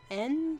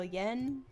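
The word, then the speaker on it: 円: then we got distracted, yen is the Japanese currency, and it's mostly pronounced as like en, but also yen. It's kind of weird because it is yen, but they write it out as n.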